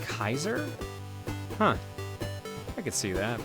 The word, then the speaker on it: Caesar: Did you know that Caesar is pronounced like Kaiser?